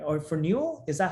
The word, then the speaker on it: Verneuil: So Verneuil, right? Or Verneuil, is that how you pronounce the project? It's a French name, so Verneuil.